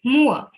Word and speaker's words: moor: Moor. Okay. It's pronounced as moor.